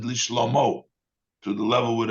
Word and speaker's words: לשלמה: Even though we pronounce it, it has a hey at the end. That sounds like feminine. It's a loshen nekeva, l'shlomo. But we pronounce it l'shlomo, to the level with